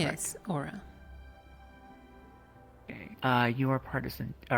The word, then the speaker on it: Aura: So, Miss Aura, did I pronounce that correctly first off? I want to make sure I get this correct. Yes, Aura.